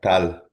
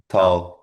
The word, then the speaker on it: Tal: Is it pronounced TA? Tata. Yeah. Tal. Tal.